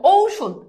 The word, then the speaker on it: ঔষধ: ঐক্য ও রসই বুঝছো তেমনিভাবে যদি দেখো ঔ তবে উচ্চারণ হবে ও রস যেমন দেখো ঔষধ এই যে দেখো ঔষধ এখন দেখো এই যে উচ্চারণে ঔ ঔষধ ঔষধ বুঝছো এরপর দেখো অনুস্বর থাকলে